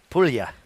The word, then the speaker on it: Puglia: Puglia. Puglia. A region in Italy. Thank you. I'm clearly not. G silent.